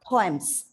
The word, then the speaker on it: poem: It's not poem because please understand this word has got 2 syllables. The 2 syllables should be pronounced.